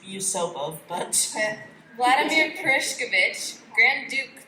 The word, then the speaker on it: Yusupov: It's Yusupov, but... Vladimir Perishkovich, Grand Duke Pavlovich, Dr. Lazarevert, and Lieutenant Mikhailovich. The Google Translate pronounces it as Mikhailovich for some reason.